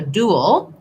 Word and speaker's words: duel: a duel with somebody, it has the oo sound and the ul sound. You end up a little in between, dual. It's one syllable, but because I'm moving from the oo shape to the shape, dual, you will hear a little sound in there.